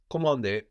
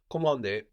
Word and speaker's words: commandé: Commandé. So again, the N here that we have at the end of the syllable is kind of silent, no? Commandé.